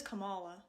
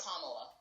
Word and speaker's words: Kamala: He says Kamala. No. Trump always says it wrong. But Biden also says it wrong. Yeah, everyone says Kamala. it wrong. How to Can Trump pronounce anything correctly, though? Obama. Obama. Obama. Obama. Obama. Obama. Trump would say Dula Peep. It's Kamala.